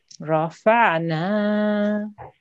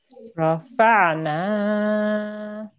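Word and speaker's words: رفعنا: no change okay so if you said this word and you need to stop and take a break you will still pronounce it in exactly the same way rafana rafana okay good now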